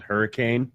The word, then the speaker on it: Hurricane: a town in Utah that's called Hurricane, but it's spelled hurricane, Yep. but it's pronounced hurricane.